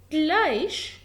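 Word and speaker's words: gleich: هنا اهو جلايش يعني علامة يساوي، جلايش او زي ليها معنيين.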